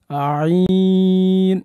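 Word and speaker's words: ع: এক আলিফ টান দিয়ে এরপরে আইন গলার মধ্যখান হতে গলা থেকে চেষ্টা করব আমরা আইন আপনি চেষ্টা করলে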